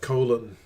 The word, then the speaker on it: Colin: And Colin, they say like colon, something like that.